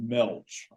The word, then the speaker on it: Gmelch: going to say George Gmelch. I'm really tempted to say George Gmelch, but I think that G might be silent, and it's a pretty classic article.